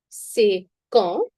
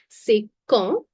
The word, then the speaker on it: C'est quand: C'est quand? D, we will not be pronouncing it. Please understand. No. C'est quand?